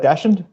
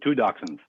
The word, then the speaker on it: dachshund: Dachshund is correct, but the American way of saying it is just dachshund. But if you went to Germany, you'd hear dachshund all the time.